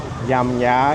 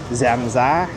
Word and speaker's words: giảm giá: It's not yam ya. It's zam za. Yes. In here we call giảm giá.